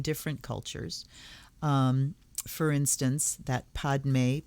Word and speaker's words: Padme: For instance, that Padme, P-A-D-M-E, is in the Hindu traditions. They say Padme Hum. In Tibetan, it's Peme Hung.